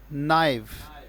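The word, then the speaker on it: naive: नाइव का मतलब क्या उच्चारण बताया मैंने? नाइव।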